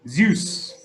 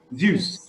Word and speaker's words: Zeus: we say his name in English yes yes Zeus Zeus now what was zeus the god of thunder